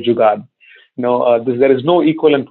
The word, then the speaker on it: jugaad: in the western world it's pronounced as jugaad so there are only